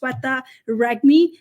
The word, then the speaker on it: Sweta Regmi: with a different name pronounce my name right I'm no longer going to say oh it's okay you can call whatever you want no pronounce it as Setta reg me and corrected thousand times